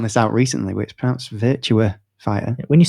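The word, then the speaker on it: Virtua Fighter: this V I was gonna say it again virtual fighter and he just went you know it's pronounced virtu fighter I was like but everyone says virtual it's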